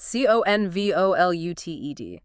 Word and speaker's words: convoluted: C O N V O L U T E D. Conenoluted. Four syllables. Stress on the first one.